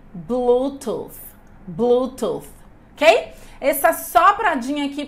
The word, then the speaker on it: Bluetooth: gente precisa dizer porque senão vai ficar com sonzinho mais parecido com f Lembrando que nós estamos